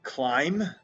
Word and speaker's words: climb: k n very good climb there's our mb climb wrong there's our wr wrong and you really